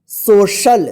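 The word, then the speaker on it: social: है नोट में कि यदि सी के बाद आई ए या सी के बाद ई ए लिखा हुआ रहता है तो इस सी का इस सी का क्या उच्चारण होगा स उच्चारण होगा ये नोट्स में ठीक है आइए हम इसका एग्जांपल देखते हैं ठीक है देखिए यहां पे एस ओ सी आई ए एल इसको क्या पढ़ेंगे सोशल देखिए सोशल यहां पे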